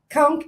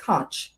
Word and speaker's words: conch: Kunk is conchk. First and foremost, a lot of people because it's spelled co n ch, a lot of people want to say kunch, right?